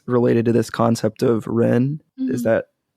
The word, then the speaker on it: Ren: social rituals is related to this concept of Ren is that pronounced somewhat correctly Wren yeah can you tell us a little bit